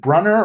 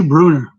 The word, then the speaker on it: Brunner: Is it Brunner or Bruner? I say Bruner. Is it Bruner? Okay, I think so.